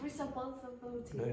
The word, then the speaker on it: responsibility: Responsibility. No, you're trying to put in an extra syllable there.